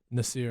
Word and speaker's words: Nasser: Spelled Nasser, pronounced Nasir.